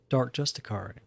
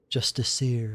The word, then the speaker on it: Justiciar: Well, she's not a dark Justicar. Justiciar, excuse me. That pronunciation always throws me off.